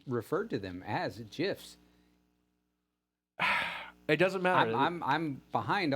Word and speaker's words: GIF: to them as a gifs it doesn't matter I'm behind audio crazy on this it's a hard G like it or not okay it's a G